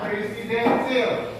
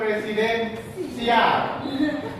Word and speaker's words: presidensial: Sil, ya presidensil, jangan presidensial atau di spasinya agak lama, ya. Presidensial atau presidensil, bacanya ya.